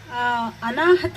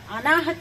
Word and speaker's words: ಅನಾಹತ: ಇರಲಿಕ್ಕಿಲ್ಲ ಹಾಗಾಗಿ ಇದು ಎಲ್ಲರಿಗೂ ಪ್ರಸ್ತುತ ಅನಾಹತ ಅನಾಹತ ಅಂತ ಸರಿಯಾಗಿ ಉಚ್ಚಾರಣೆ ಮಾಡಬೇಕಾಗುತ್ತೆ ಇಲ್ಲ ತಪ್ಪಾಗಿ ಉಚ್ಚಾರಣೆ ಮಾಡಿದರೆ ಅನಾಹುತ ಆಗುತ್ತೆ ಹಾಗಾಗಿ ಬದುಕು ಕೂಡ ಅಷ್ಟೇನೆ